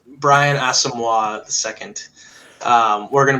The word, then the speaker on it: Asamoah: get the names right people yeah it's Brian asamoah the second um we're gonna be doing that